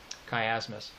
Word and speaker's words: chiasmus: Chiasmus. Hang on. Okay, so chiasmus as a rhetorical figure of repetition, and that's spelled CHIASMUS.